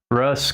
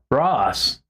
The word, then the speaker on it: Ross: Sometimes people mispronounce my name as Russ. Russ. I'm like, it's an O. Ross. But I don't get that mad. I don't even really furrow my eyebrows. I just go. It's Ross, you know.